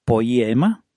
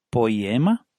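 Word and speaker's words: ποίημα: el griego original es una palabreja que se pronuncia poema poema a que parece que no hace falta ni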